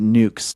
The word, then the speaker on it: NUCS: Okay, so NUCS, and so we pronounce it nukes.